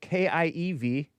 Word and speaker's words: Kiev: In 2022 and 2014, they started shifting Kiev, K-I-E-V.